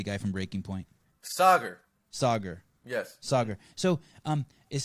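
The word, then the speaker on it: Saagar: go back to sega for a second we pronounced his name for me the guy from breaking point sauger sauger yes sauger so um is soccer like so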